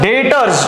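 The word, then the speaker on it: debtors: किसको क्या लिखा है डेटर्स डेटर्स प्रोनाउंस अच्छे से करिए प्लीज बी साइलेंट है डेटर्स मत बोलिए डेटर्स बोलिए ओके डेटर्स को टिक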